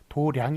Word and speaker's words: 도량: 태권도장 이런거 예 그렇지만 도량 사철을 가리킬 때는 도량 이라고 읽어야 봤다 아아아아악 그렇게 말할 수